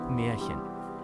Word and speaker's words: Märchen: Ah, how to pronounce. So without further ado, let's dive into today's word. Märchen.